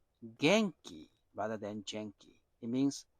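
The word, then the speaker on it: 元気: Oh jenke is actually a Japanese word I learned this week. It is pronounced genki rather than jenkei.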